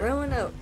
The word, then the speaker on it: Roanoke: Roanoke, that's how you say it, Roanoke.